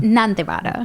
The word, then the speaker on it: Nandivada: Nandivada. Nandivada. Nande. It's the lower D.